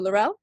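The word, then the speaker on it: L'Rell: we have um but yes i play chancellor lorell on star trek discovery in seasons one and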